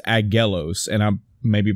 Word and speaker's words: Aggelos: It's not Abellos, A-B-B, it's Aggelos.